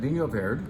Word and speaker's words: Vinho Verde: This is delicious wine, but it's more interestingly delicious when you realize that Vinho Verde, that's how you pronounce it, is a region, not a grape, not a wine type.